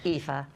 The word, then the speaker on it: Aoife: vowels it looks like a la fille it's pronounced Aoife and I elderly and infirmed and we've just